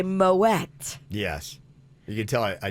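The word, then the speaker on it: Moët: not it's tricky because that is one of the few that you're supposed to say mo wet yes you can tell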